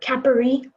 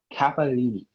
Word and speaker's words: capellini: Am I pronouncing it right? Capari? No. Capellini.